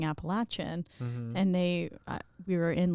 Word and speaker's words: Appalachian: grew up appalachi Appalachia Appalachian Appalachian so Appalachian is how they say it here uhhuh but in the Appalachian Mountains would say Appalachian Appalachian so but Appalachian